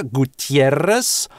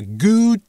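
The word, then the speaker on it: Gutiérrez: По-испански это три слога Gutierrez. Соответственно, кто-то точно также может заимствовать. А кто-то может разбить это на четыре слога Gutierrez.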